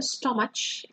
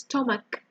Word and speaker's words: stomach: And the second one, of course, stomach, So it's not a chew, it's not a stomach, it's stomach.